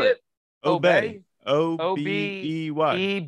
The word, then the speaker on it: Obey: thought it was Obi. Are you getting all fucking fancy with the How way do you you- pronounce how it? do you say spell it? Obey.